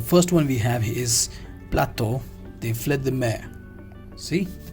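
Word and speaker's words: plateau de fruits de mer: The first one we have is Plateau, they fled the mare. See the pronunciation here?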